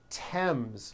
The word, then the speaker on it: Thames: spelled with a th they are pronounced as if they were spelled with a normal T like that and these words are Thomas Thompson Theresa Thailand Thames like the river Esther